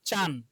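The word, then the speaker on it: ちゃん: চা চিয়া বলা যাবে না কিন্তু, হ্যাঁ চিয়া বলা যাবে না, চিয়াতে চা। তাহলে চিয়াতে চা আর ন চান, চিয়াতে কি চা আর ন চান, চান চান, হ্যাঁ চান।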